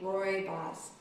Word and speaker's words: Rooibos: them got it right the correct way to say the name of this African tea is gray box we'll put it here phonetically roar a boss like your boss's name is for it that concludes